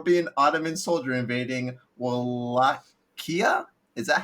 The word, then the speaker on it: Wallachia: So, boys, would you rather be impaled for being porn stupid, or be an Ottoman soldier invading Wallachia? Is that how you pronounce it? Yeah, Wallachia. Wallachia.